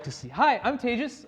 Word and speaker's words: Tejas: Hi, I'm Tejas. That's pronounced like advantageous for those of you who aren't used to exotic Indian names.